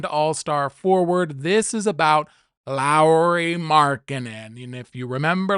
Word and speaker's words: Lauri: Low landing Lowry, who if you've been pronouncing his name Lori, it's wrong. Okay, he went on to talk about how it's Lowry, like Lowry seasoning or Mike Lowry from Training Day, whatever.